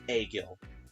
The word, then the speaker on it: Agil: They neglect Klein and Egil. They really neglect those two. And as a proper thing, I will tell you now, it's actually pronounced Agil.